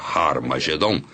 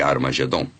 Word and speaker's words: Armagedom: daí temos har meedo harmagedon e Armagedon e realmente em algumas das antigas versões do novo testamento escritas em grego Armagedon tem o som aspirado no início que significa que era pronunciada com H Origin nor era hared